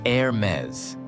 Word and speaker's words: Hermès: This is Hermes, pronounced Hermes. You do not pronounce the H sound.